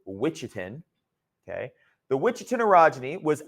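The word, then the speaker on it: Ouachita: uh the witchin arogy yes that's how you spell that that's how you pronounce that I should say witchin okay the witchin orogy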